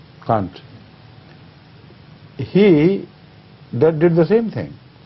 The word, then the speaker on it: Kant: Is it pronounced Kant or Kant? Kant.